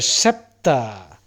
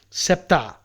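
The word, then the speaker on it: sceptre: throne above in the sky and holding a SEPTA now s c e p t r e SEPTA that is how it is pronounced pronounced in English you have all these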